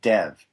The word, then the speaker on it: Dev: This name Dev, because that's not my name. And you know that too, don't you? The name Dev is a short form that really comes from